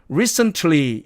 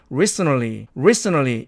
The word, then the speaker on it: recently: 자, 그 다음에 D번의 얘는 사전식 발음으로는 recently 이렇게 됩니다. 그런데 을 또 이것도 모음 없이 자음 세 개가 나란히 놓여 있죠. 그래서 가운데 놈을 탈락시켜서 recently 이렇게 발음한다는 얘기입니다.